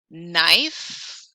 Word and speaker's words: knife: says the letter b knife why is that k silent often do you really